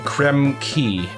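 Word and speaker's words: Krem Quay: In episode 4, when we will be continuing in Creme Key. That is how it's pronounced.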